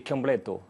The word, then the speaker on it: Chiambretto: Euh en famille c'est Kambleto. Kambleto. Quand l'on prononce Chiambreto, je vous avouerai que ça me met moins en valeur.